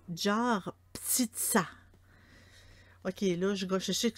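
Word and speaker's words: Жар-птица: En russe, son nom, c'est Jar Ptitsa. Ok, là, je sais que je gagnerai pas je gagnerai pas un trophée pour la prononciation, mais c'est Jar Ptitsa.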